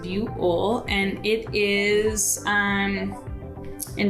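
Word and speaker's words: Buhl: would know how to pronounce it but it's pronounced buole and it is um in twin falls county so it's a little town it's called buell in twin falls and that's on the eastern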